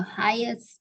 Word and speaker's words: highest: Nah jadi cara baca highest-nya itu G-nya nggak kedengeran ya.